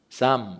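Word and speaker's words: psalm: 이름에서 이 시편이 왔습니다 여기 영어단어가 보시면 쌈 이렇게 되서 쌍 pyl 발음이 묵음 이에요 그래서 헬라어로 는 이걸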